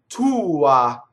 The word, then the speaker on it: tua: So this is technically a one syllable word, but the oo gets a lot. And it sounds like two syllables, right? Tua, right? So it's a definite oo and an ah. It's just the ah is a lot shorter.